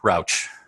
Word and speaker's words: Rauch: Rauch. Rauch rhymes with couch, Rauch.